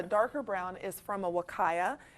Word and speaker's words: Huacaya: This first one, the darker brown, is from a Wakaya, and that's Huacaya, and it's pronounced Wakaya.